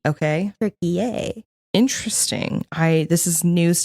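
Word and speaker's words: Türkiye: like the animal turkey now it's turkey which is t r k believe i y e i y e okay tury a interesting I this is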